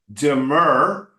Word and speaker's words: demur: First of all, since the demur, but you're not going to be a lawyer, so you don't need to know this word.